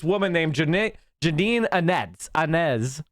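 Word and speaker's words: Áñez: named janet janine annette anez i think is how you pronounce it a-n-e-z i believe that's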